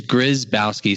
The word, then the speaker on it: Gryzbowski: pronounce it again please it's grizzbowsky so i always do three syllables so it's like a grizzly bear and you're bowing to the grizzly bear and you're on skis so it's grizzbowski okay i'm